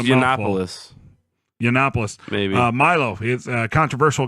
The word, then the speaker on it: Yiannopoulos: Uh next week we have scheduled Milo Yinanopoulos. I hope I pronounced that right cuz that's just Yiannopoulos.